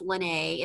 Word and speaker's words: Lena: i was saying earlier my name is pronounced lynnae it's not a big deal it's just spelled like lena but i want to